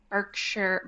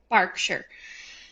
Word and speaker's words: Berkshire: Uh, Catherine was born January 9th, 1982 at the Royal Birkshire Barkshire. Oh, sorry. English pronunciations. It's spelled Berkshire. It is pronounced Barkshire.